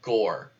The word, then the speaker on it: Gower: Pronounced like Gore. Okay, Gore, Aditya Gore.